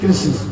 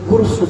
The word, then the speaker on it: कृष्ण: हमको बोलते जय श्री कृष्ण वो कृष्ण नहीं बोते वो कषण बोलते ठीक लेकिन असली उच्चारण कृष्ण अब इसके अर्थ क्या